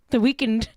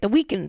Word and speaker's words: The Weeknd: The Weeknd. How do you say it? The Weeknd, right? Because he doesn't have it's not spelled weekend.